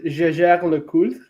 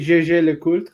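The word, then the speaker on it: Jaeger-LeCoultre: So they pronounce it sometimes Gégère le Coultre, which is very confusing. Ooh. Because Yeah. in French, it's actually Gégé le Coultre.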